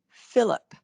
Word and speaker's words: Philip: my brother's name is philip well it's pronoun it's spelled with a ph at the beginning but that ph always sounds like an f so these are lessons